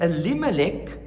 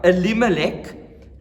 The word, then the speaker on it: Elimelech: I'm not going to twist my tongue every time saying that name that has 4 syllables. Okay, so perhaps one more time, and from then on, that guy, Elimelech, took his wife Naomi